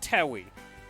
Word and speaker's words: Toei: it's cyrano see the w in towie it's towie don't tell me not to pronounce that w don't put the w